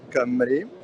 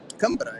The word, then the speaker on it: Cambra: It's Marta Camri. Cambra, actually, I pronounced her name right.